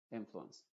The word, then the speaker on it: influence: Influence. No es ens, sino uns. Influence.